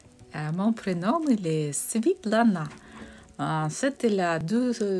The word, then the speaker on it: Svitlana: En russe, c'est Svetlana, ça s'écrit avec E. Et en ukrainien, c'est Svitlana. Donc moi, comme je suis ukrainienne, donc ça se prononce Svitlana.